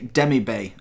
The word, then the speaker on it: Demirbay: so we've got today I want to say dem eBay that's how of google translator because I'm absolutely awful at pronunciations and I'm trying to get a little bit better with them so that's how it's gonna be said in this video if it is wrong let me know if you if you can let me know how you say but dem eBay is how it pronounced it let's get into